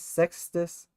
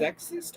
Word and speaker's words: Sextus: Sexist or sextist? Sextus. How is this spelled? Sex, T-U-S. Oh, sexist. Okay. Sextus. Yeah, Sextus. So yeah, I was thinking